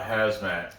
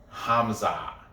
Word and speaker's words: Khamzat: his comments were like it's not hazmat it's hamza hamza it's the k is silent hamza and people were kept like